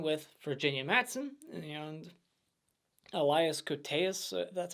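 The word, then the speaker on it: Koteas: is the one with virginia matson and elias cortes that's how you say his name and i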